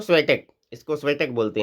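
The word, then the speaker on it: Świątek: इनका नाम है, अपने हिसाब से यहाँ पे प्रोनाउंस किया जा सकता है। स्वियातेक यहाँ पे पीडीएफ में लिख दिया गया है, तो स्वेटेक, इसको स्वेटेक बोलते हैं।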